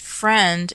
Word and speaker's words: Freund: his name is pronounced Friend, is John Friend. He's the lawyer. His name is spelled Freund.